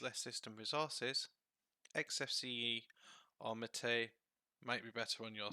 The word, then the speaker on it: MATE: Now, the Linux community insists that this is pronounced Mate. However, I don't see an accent above the E, so I will refer to it as Mate.